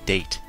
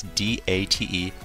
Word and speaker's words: Date: His name is Date. I you not. It's D A T E. It's not Dante.